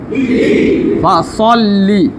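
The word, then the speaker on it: فَصَلِّ: দেখেন পড়েন ফাসল, সাল না সল, ফাসল পড়েন ফাসল্লি। দেখে বলেন ফাসল্লি। এটা কি হলো হরফ? কয়বার পড়তে হবে? কিভাবে দুইবার পড়বেন? প্রথমবার ডান দিকের উচ্চারণের সঙ্গে, দ্বিতীয়বার নিজ উচ্চারণ।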